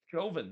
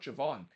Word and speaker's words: Jovan: and it's like, no, that's not how you pronounce his name. It's Jovan, not Javon.